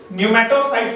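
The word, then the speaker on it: pneumocyte: अब इस squamous epithelium tissue में दो तरह के सेल्स पाए जाएंगे, एक टाइप 1 न्यूमेटोसाइट सेल्स, न्यूमेटोसाइट सेल्स यहां P साइलेंट हो जाएगा, और एक टाइप 2 न्यूमेटोसाइट सेल जिसमें टाइप 1 का कोई खास रोल नहीं है।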